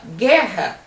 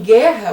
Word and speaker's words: guerra: Por exemplo, quando você fala guerra, você não ouve a letra U. É diferente de você falar agulha. Agulha você usa a letra U, você ouve a letra U. Então, em guerra, você conta o GU como 1.